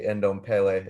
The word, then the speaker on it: Ndombele: Yeah, after the goal Ndombele scored, it's actually Ndombele is his name. Pronounce it right.